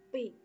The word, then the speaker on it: pi: Ji, ro, lu, pat, mo, nem, pi. Jadi bukan tu, tapi pi.